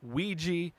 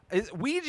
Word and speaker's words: Ouija: This is apparently the sequel to the first Ouija. Ouija is how I grew up saying it. I've heard it pronounced Ouija as well, and I believe that's actually the correct way, Ouija board, the thing